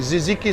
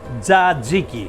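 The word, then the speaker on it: tzatziki: that important sauce and ziziki sauce no no no no no zaziki zaziki ziki zaziki exactly ah okay zaziki say it right of course that has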